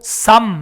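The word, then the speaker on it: psalm: 그래서 영어로도 P가 묵음이 되고 쌈 이렇게 되잖아요.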